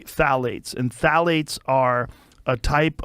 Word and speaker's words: phthalates: how you spell it you say phthalates and phthalates are a